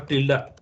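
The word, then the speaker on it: tilde: here is till or Tia till or Tia okay Tia it is called Tia pronunciation is Tia but it is written till okay okay this Tia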